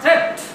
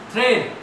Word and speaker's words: thread: Third word is thread, not threat. Pronunciation is thread.